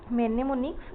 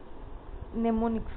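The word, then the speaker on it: mnemonics: करि परिबे the term मेनेमोनिक्स is associated with it एम टा एक्चुअली कौन अच्छी माने हमर एटी एम टा ताको माने साइलेंट रहइबो नेमोनिक्स कहबा एसोसिएटेड विथ एटा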